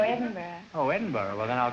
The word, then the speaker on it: Edinburgh: Oh, Edinburgh, Scotland, huh? No, Edinburgh.